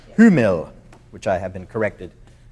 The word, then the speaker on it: Hummel: Hummel, which I have been corrected by a friend of mine.